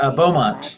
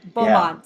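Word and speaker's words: Beaumont: gets talked about enough, and that is Andrea Bowman. I think that's how you say Bowmont. Yeah, Bulmont.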